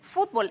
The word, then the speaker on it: fútbol: la palabra fútbol no fútbol es una palabra que en México pronunciamos como una palabra aguda aguda que termina en L por lo tanto no debe llevar acento Pero qué pasa que